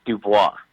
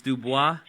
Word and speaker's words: DuBois: right it's all good they pronounce it that way in the south but if you want to know it's dupois it's dubois yes sir you french [